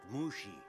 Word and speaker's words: Mushi: a good boy Mr Lee and Mr um Mushi is it it's pronounced Mushi you telling me how to do my job